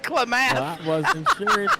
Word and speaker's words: Klamath: It's pronounced Klamath. Klamath Falls. I said Klamath.